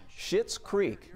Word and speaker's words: Schitt's Creek: most, the comedy series Schitt's Creek. Now, it's not spelled the way it sounds, but that's how you say it, is the most watched show on Netflix in Georgia.